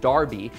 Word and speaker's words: Derby: this dates back to the original Derby pronounced Darby in England in 1780 when Edward